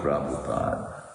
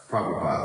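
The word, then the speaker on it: Prabhupad: Sheila praupad praupad.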